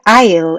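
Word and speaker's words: aisle: 좌석 사이로 다니시는 거죠 그래서 여기를 아이에요 이라고 발음을 하죠 더 넓고 쫓고 이런건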